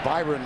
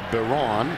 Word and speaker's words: Byron: You might think of it as Byron Isom. He pronounces it Baron.